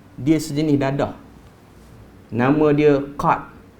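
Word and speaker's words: قات: Nama dia qat. Ejaan dia qat, qaf alif ta. Tapi orang Yaman panggil gad, sebab orang Yaman dia huruf qa dia sebut dengan ga.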